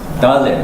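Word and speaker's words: דלת: 달렛. Dalet. 달렛. 요거는 그러면은 디귿 발음.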